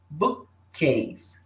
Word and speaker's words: bookcase: Book termina com k e case começa com k. Então, o que eles fazem na hora de pronunciar essa palavra? Eles usam um som só. Eles juntam os dois e fica só um. Bookcase. Bookcase. Não fala bookcase. Bookcase. Eles não fazem essa pausa e repetem o som.